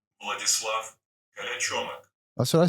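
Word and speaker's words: Vladislav Kolyachonok: Vladislav Kalachomik.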